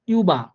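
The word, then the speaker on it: über: যেমন ইউবা, ইউবা দেখেন এখানে হালকা যখন আপনি ট্রান্সলেট করবেন না, তখন দেখবেন যে ইউটাকে ইউবা অর্থাৎ ইউ এর মতো করে উচ্চারণ করতেছে ওনারা।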